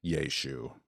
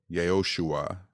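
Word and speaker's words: ישוע: of biblical Linguistics and Jesus's name was probably pronounced yesu but it's not the same in Latin or Greek it sounds closer yosua but it is not Josh okay well that to me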